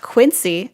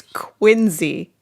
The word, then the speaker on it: Quincy: It's not Quincy, as in like the show from the 80s. It's Quincy, as with nice Z sounds.